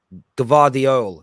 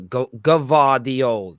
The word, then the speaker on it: Gvardiol: This is the best way of pronouncing it. I want to get this right. Joško Gvardiol. Gvardiol. There we go. Gvardiol. There we go. Got it now. Gvardiol.